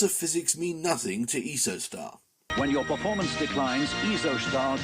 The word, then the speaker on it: Isostar: straight out of Switzerland isostar what the body loses through persperation is restored by eostar sorry eostar that's how Patrick Allan pronounces it and he had the